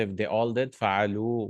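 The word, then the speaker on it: فعلوا: Fa'alu with a waw. And then alif also, that alif separates the verb. It's just a spelling rule. We don't pronounce that alif. It's actually this waw. Fa'alu, they all did.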